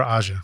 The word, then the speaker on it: Aja: did was Asia with or how do you pronounce it Asia or AIA Asia Asia okay great with Steely Dan and that